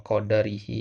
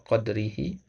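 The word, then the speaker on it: قدره: Nah, kemudian sadisan faslun fi bidayatis sabqi, ya, wa qadrihi, ya, perhatikan bukan wa qadarihi, ya, wa qadrihi, ya, wa tartibihi.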